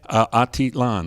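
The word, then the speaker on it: Atitlán: Is it Atitlan? Is that how you say it? Atitlan, that's right.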